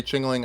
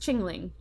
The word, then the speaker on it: Chingling: I was gonna say chingling I'll give it a I think you're adding an extra syllable it's it's just jingling jingling correct okay are you